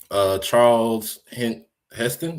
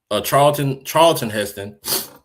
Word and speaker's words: Charlton Heston: Charles Heston, is that how you say his name? Charles Heston? Charlton Heston was so done by the second movie, he